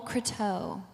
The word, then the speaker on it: Croteau: you it's um Nicole crateau for you Canadians I think that you probably know how to say it because it's French Canadian she's from I'm